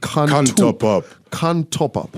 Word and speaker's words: Kantopop: our stories with that how do you pronounce that genre that you've coined a phrase it's called khan top up yeah khan top up